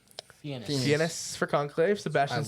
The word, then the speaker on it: Fiennes: Fiennes. Fiennes for Conclave, Sebastian love Stan, Finest, No, they should Fines.